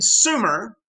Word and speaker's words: Sumer: so most people in sumer that's how you pronounce it not summer because it need another m but sumer lived in rural areas